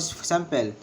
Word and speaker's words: sample: in the word sample, it is had 2 syllables. Sample, and the stress is placed in the first syllable, sample, and the longer word usually have 2 stress.